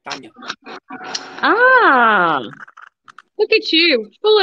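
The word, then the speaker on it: Tanja: a name like t-a-n-j-a you don't pronounce the the j as jane you pronounced as i like tanya ah look at you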